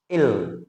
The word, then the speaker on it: ils: Then ills pronunciation will be ill.